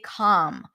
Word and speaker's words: calm: down by the way when you have LM at the end you also don't have to pronounce the L actually most people don't pronounce the L some people will some people will say calm but a lot of people just say calm calm down the palm